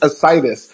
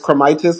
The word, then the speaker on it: ascites: malnourished African child, and she mispronounces it again. She doesn't even remember what the nurse just told her. It's ascites. But she's like, "Yeah, this baby here has chromitis on his stomach."